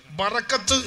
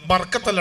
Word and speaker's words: ബറക്കത്ത്: ബറക്കത്ത് എന്ന് പറഞ്ഞാൽ എന്താ സാധനം? ബർക്കത്തല്ല കേട്ടോ, ബർക്കത്തല്ല, ബറക്കത്ത്. ഒരിക്കലും അതിൻ്റെ ആ ഉച്ചാരണം തെറ്റിപ്പോകരുത്.